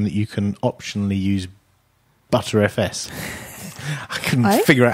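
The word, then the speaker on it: Btrfs: you can optionally use butter fs i couldn't figure out how to pronounce that bt rfs i can't believe it's pronounced butter fs as in yeah as in the butter spreadable yes the unified sound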